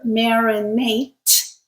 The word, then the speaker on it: marinate: But in this case, the unvoiced sound t creates a verb, marinate, and the voiced sound creates the noun, marinade.